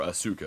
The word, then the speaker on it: Asuka: from this Yakuza lady, Asuka, or Asuka as they pronounce it, as we escape to the second island, Staunton.